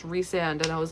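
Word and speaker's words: Rhysand: put rice on something like hey can you Ryon that that's what that sounds like and that's not even a word and then someone told me it's pronounced reand and I was like oh that makes sense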